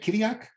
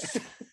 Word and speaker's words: Chirac: Kiriak. How do you say it? Kiriak? No H. Kiriak. Oh, well, told me off for saying it. Chirac.